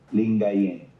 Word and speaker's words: Lingayen: Uh, L I N G A Y N D A G U P A N Lingayen Ling.